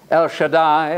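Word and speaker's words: El Shaddai: sing it to them El Shai El Shai and it rhymes with Adonai that's the Lord God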